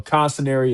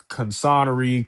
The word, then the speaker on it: Consiner: Uh, Consiner, it's an Italian last name. Um, my last name has been butchered every which way. And whenever I was looking for schools, I would go on a tour, it would be pronounced wrong. It would be, you know, Consery, Connoisseur, Constanate, you you name it, I've I've heard it.